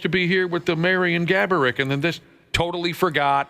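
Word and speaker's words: Marián Gáborík: make an appearance alongside Marian Gaborik, of course, is the real pronunciation, but Josh's uncle liked to make up different pronunciations.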